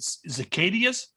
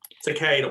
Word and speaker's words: cicada: Now, But I know you came out, you so- pronounced it one thing, but is it cicadias? Cicada.